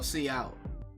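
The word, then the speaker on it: cout: this code uses a method known as C pronounced C out oh see out oh you STD C out then DET texts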